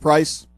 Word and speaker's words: Preis: I'm pronouncing it right your last name is pronounced price yes strange strange spelling for